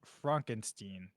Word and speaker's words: Frankenstein: brings up the subject of his grandfather Victor Frankenstein Frankenstein the infamous mad scientist with whom he does not want to be associated with and insists that his surname is pronounced Frankenstein when a solicitor informs him that he has